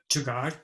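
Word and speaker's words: jugaad: How do you pronounce it? Jugad.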